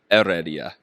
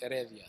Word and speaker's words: Heredia: important, and I didn't, because it's really Heredia, correct? Heredia. Heredia. Yeah.